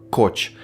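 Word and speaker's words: Koch: тут треба пояснити що кохи хоча фамілія вимовляється як коч так от Це доволі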